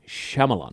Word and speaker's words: Shyamalan: It wasn't to make fun of him, but it was I know Shyamala Ding-Dong. That way I know when I see his name, I just know it's pronounced Shyamala.